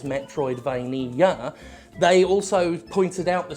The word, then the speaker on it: Metroidvania: Five syllables! That was one of the criticisms, five syllables. BUT, in that self-same article, that criticized "Metroidvania" having five syllables, "meh troid vain ee ah" they also pointed out